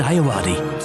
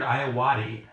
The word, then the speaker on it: Ayoade: Submarine, a film by Richard Ayoade.